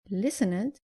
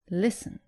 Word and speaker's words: listened: And avoid saying listened, say listened.